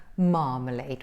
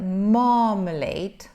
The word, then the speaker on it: marmalade: so here you see there are three syllables three syllables you stress the first syllable so this is the